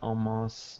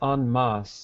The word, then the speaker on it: en masse: Sunbathers gather en masse during... Okay, here's an example of French that happens in English. I'm sorry, I pronounced it French, but I should be pronouncing this English version.